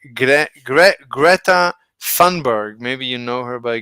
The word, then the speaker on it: Greta Thunberg: hi Nicole who is Greta T who is Greta tunberg she doesn't know because I mispronounced it it's gr gret Greta thunberg maybe you know her by Greta thunberg I